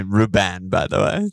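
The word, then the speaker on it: Rúben: into having stones and Ruben in my team yeah um I've been cut I've liked that more I love how you say Ruben by the way well there's an accent on the you so I want to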